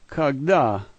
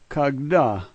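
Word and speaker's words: когда: K and O are the same, but the center letter is ge, and the fourth letter is a D sound, and the last letter A. This word is kagda, kagda.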